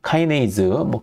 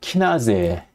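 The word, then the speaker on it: kinase: 자, 그래서 카이네이즈, 키나제, 독일식 표현이기도 하고요, 일본식 발음이기도 한데 인산화 효소란 무엇인가? 카이네이즈라 발음하기도 하고 한국어 표현은 키나제라고 하기도 하는데 나는 인산화 효소라고 부르는 걸 권장하던 저도 그래요.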